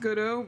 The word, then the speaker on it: Godot: I love Got It. I was told that his name is actually pronounced Godot, but I just keep calling him Got It.